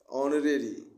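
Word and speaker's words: honorary: ऑनरेरी एच से शुरू है लेकिन उच्चारण दे रहा है वोवेल का, इसलिए एन ऑनरेरी हो जाएगा।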